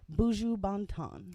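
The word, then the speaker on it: Buju Banton: Um, moving right along to Buju Bontton.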